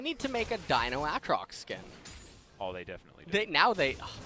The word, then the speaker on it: Aatrox: wanting to let his Aatrox, or sorry, his Trox fall down early on in this game. It's pronounced Aatrox.